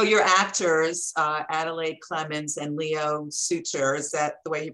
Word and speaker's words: Leo Suter: So your actors, Adelaide, Clemens, and Leo Suter, is that the way you pronounces it?